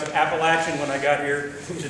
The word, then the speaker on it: Appalachian: In the middle of the Appalachian Mountains, and they were real clear to me that I was to pronounce it Appalachian when I got here to tell y'all how to pronounce it right.